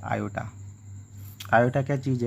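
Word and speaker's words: iota: और इसका जो प्रोनाउंसिएशन है इसको अपन बोलते हैं आयोटा।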